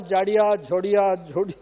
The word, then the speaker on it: Jodia: would that is jodia the spelling is j-h-o-d-i-a or j-o-d-i-a when when we pronounce it it is same or j-a-d-i-a it is all jada zhodia and as these are all